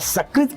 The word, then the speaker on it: सकृत: शकृत कहेंगे तो शकृत माने ये मल, गंदगी, और सकृत कहेंगे तो एक।